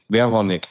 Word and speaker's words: Verhounig: Is it Verhounig? Verhounig. Just change the V to a W, get rid of the U, and that's it.